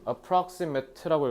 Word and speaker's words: approximate: approximate라고 읽어야 돼, 형용사라서.